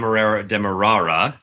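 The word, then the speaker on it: Demerara: so Guyana At Dem demarara I learned that's how you say it demarara distillers Limited in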